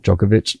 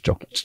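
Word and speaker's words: Jokić: Yeah, Djokovic is Jokic. It's Joe.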